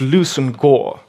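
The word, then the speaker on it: Leveson-Gower: here lvis and GA with the chaotic pronunciation of English pronounced loosen Gore which is rather an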